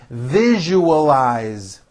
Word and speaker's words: visualize: i value our friendship visualize four syllables you all eyes visualize can you visualize what